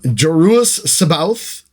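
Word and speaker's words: Joruus C'baoth: the slideshow there um jerus Sabbath that's how I choose to pronounce it I think that's the best pronoun uh pronunciation for it and Grand Admiral thrawn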